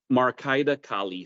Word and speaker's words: Marcaida Kali: And I will mispronounce this, so please correct me. Marcaida Kali? Marcaida Kali.